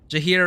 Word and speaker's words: Jaheira: Jaheira rhymes with Shakira.